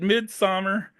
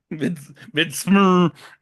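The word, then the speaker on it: Midsommar: the O is silent. Yeah, Midsummer.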